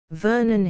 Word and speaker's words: Vernon: "Vernon," he answered. "Vernoon, Vernoon," she repeated, for she could not pronounce the O as we do.